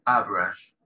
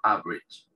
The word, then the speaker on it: average: tipo de persona, person, y habla de average, o como pronuncian en inglés británico, average, porque viene del francés esta palabra, ¿sí? Average. Y en americano, inglés americano, average.